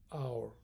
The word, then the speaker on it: hour: will arrive in an hour here each is silent I pronounce this like our so in an hour